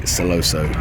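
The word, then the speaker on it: Sentosa: off in celoso so turns out i've been pronouncing it wrong apparently celoso and we are at a place called ola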